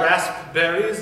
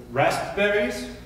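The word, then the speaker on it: raspberries: did you call them rasberries are you pronouncing the p is that's how you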